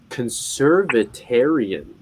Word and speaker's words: conservatarian: feel how do i feel about conservatarianism yeah conservatarian that's how you say it and basically the